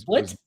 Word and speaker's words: Split: Split was split. Split. Yeah. Split spelled like split in half.